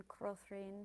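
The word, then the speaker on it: Krothering: The E in Carse is long like that in Prine, the O in Crothrin short, and the accent on that syllable.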